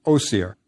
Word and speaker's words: Osiris: Next we add oseris which the ancient Egyptians pronounced oir. Remember the Greeks add all those is endings.